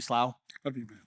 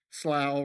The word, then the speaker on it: Slough: Slow? Love you, man. Wow, so many of you I haven't met yet. Uh, so let me introduce myself. Slow rhymes with wow, not slo.